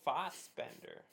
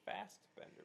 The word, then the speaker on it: Fassbender: Oh, Fassbender. I always pronounced it Fastbender, but that's not how it's spelled.